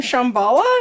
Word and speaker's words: Shambhala: oh crap so you just got back from Shambhala is that how you say it yeah okay